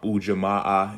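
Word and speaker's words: Ujima: Quanza again today is the fourth day um UJ is the principal and again um UJ is how you pronounce it and it stands for um Cooperative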